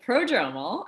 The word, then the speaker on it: prodromal: so now that i've i think i said it correctly but what does prodromal mean educate all of us you did say it correctly uh so prodromal um it means the